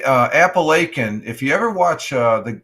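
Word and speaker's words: Apalachin: They say they talk about Italian, but they pronounce it Appalachian, but it's actually Appalachian, New York, the name for fame.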